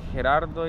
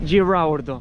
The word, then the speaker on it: Gerardo: Mi nombre es Gerardo y en inglés la gente lo pronuncia Gerardo. Gerardo. Entonces, cuando voy a comprar algo, tengo que dar mi nombre. No puedo decir Gerardo porque no me entiende. Tengo que decir Gerardo. Gerardo.